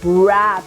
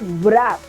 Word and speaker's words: wrap: Wreck, gift, wrap, and not wrap, right?